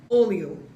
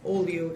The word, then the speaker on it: olho: An H does not make a ha sound. H makes a Y sound. So, where's a good? Olho.